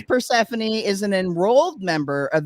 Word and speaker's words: Persephone: Persephone. It's Persephone is an enrolled member of the Omaha tribe